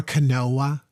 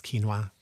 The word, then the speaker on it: quinoa: suggest right uh brown rice oats quinoa or Canoa as some people say I just laugh quinoa um and and if it is pronounced Cano which I know it's not um don't come at me it's quinoa yeah um oats buckwheat barley mhm um some